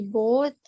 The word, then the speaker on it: bought: I bought a new shoes last week. Ya, both-nya cara bacanya ya itu GH-nya silence ya, I alias bought, yang tidak dibaca.